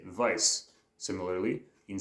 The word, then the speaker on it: weiß: just think it's pronounced Weiss because it's with a W, but you wouldn't know that the W actually makes the V sound in German. So that's why we say Weiss.